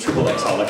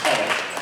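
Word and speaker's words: xxxHolic: Sometimes it's known as Triple X Holic. That's not how it's pronounced, by the way. Holic. The Triple X is not pronounced. It sounds weird if you say Triple X Holic.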